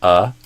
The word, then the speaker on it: the: So the versus the, you can think about it whether there's a vowel after it or a consonant. So if it was after leaving the organization, then because it's followed by this vowel sound, the then I would do it e and the. So the default, I would think of it as athe, a schwa sound, and the and I'd